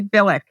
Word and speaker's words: Bilek: is an interesting person am I pronouncing your name right no it's actually bck but nobody pron right everybody does everybody get that wrong yes everybody I